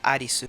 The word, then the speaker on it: Alice: nombres como Arest y Alice, que se pronuncia Aris como la heroína principal.